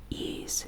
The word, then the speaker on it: Ys: the action RPG series ease pronounced ease and it's spelled with the Y and an S will be launching in